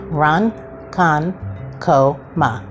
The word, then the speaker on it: Ronkonkoma: writing it was ridiculous so we always had to break it down and it's Lake run Khan KO Ma and it's in Suffolk